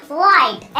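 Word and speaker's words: white: ice cream ऐसे ही बोलेंगे ऐसे बोलेंगे व्हाइट एस साइलेंट वही कलर ओह अंग्रेज तो ध्यान रखना भैया के जब भी दुबली के बाद ह आई वो ह हमेशा साइलेंट पड़ा जाएगा उसकी कोई आवाज़ नहीं है समझ गए घुस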